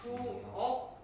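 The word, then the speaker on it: 부엌: 부억 이렇게 기억으로 바꿔주는 음절의 끝소리 규칙이 발생하는 거죠.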